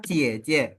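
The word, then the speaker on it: 姐姐: kakak perempuan Jadi intinya J itu teman-teman kalau dalam bahasa Mandarin dibaca seperti C ya oke lanjut kalau aku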